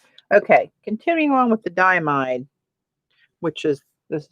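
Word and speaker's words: Diamine: Okay, continuing on with the diamide, which is, this is how you spell that. Really? Ay, ay, ay. Like diamond, but not.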